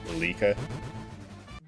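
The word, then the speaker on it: Leike: L-E-I-K-E, but it was actually pronounced Lika.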